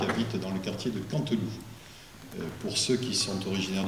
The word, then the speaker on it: Canteloup: dans le quartier de Canteloup. Pour ceux qui sont originaires du quartier, je dirais Canteloup, voilà, puisque vous savez qu'on prononce le P, on dit Canteloup, le barbute, et puis